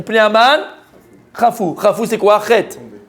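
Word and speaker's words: חטא: Chet, qui veut dire péché, il y a un Aleph à la fin, mais on ne le prononce pas.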